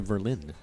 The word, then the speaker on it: Verlin: I believe it's pronounced Verlin. Verlin? Yes, like Rhymes the city with Berlin, huh?